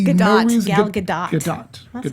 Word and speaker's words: Gadot: Gadot. That's how you say her name. Gadot.